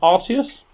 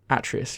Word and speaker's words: Atreus: Kratos and Arceus. Atreus. Arceus. I've just written it wrong, I think. You couldn't have written both of them wrong. Is that how you spell it? I thought it was Atreus. You can tell I've never played God of War. Kratos and Atreus, yeah.